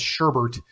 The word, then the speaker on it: sherbet: It shares the same etymology as the word sherbet, which I guess in America we pronounce sherbert.